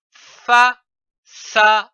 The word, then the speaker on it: façade: ces syllabes nous avons vu la syllabe ça c'est c'est dit a ça prenons une autre ab comme par exemple fa fa a fa ou encore de D E 2 l'association de ces trois syllabes donne le mot façade comme une façade nous